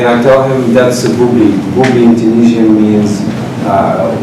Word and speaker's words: Booblee: Booblee. And I can... How do you say it? Booblee.